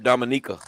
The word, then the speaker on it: Dominica: He from Dominica. No, for real. It's Dominica. That's what it is. For That's real. how it's pronounced.